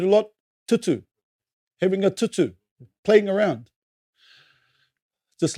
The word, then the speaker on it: tutu: The T is not pronounced like a European tea, as in cup of tea.